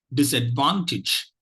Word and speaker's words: disadvantage: word goes like this disadvantage disadvantage disadvantage disadvantage okay so if you look at it the first and third syllables are stressed the third syllable is